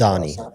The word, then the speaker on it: Mamdani: Ramadani. I couldn't remember. Mamdani. It's Mamdani.